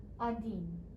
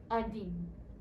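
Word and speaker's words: один: i have the english transliteration or how it's pronounced so let's start with one through five number one is adin repeat after me adin if it helps you you can look at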